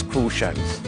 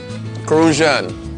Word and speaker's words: Crucian: Croix are referred to as Crucians. Crucian. You gotta say it like that, Crucian.